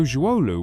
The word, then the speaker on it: Zhuolu: The word "er" here is pronounced "air" and refers to a low-lying area or basin near a mountain. So Zhuolu was likely located at the base of some hills or mountains.